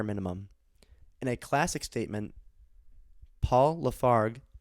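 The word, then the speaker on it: Paul Lafargue: in a classic statement paul lafarg hope i pronounce that correct paul lafarg l-a-f-a-r-g-u-e argued for limiting work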